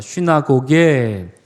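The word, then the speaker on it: συναγωγή: 쉬나고게. 그렇습니다. 여러분, 비슷하죠? 말이 비슷합니다. 모으다, 그 다음에 회당, 쉬나고하고 쉬나고게 뭐가 비슷합니까?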